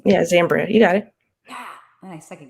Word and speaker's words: Zambria: Zambria. Yeah, Zambria.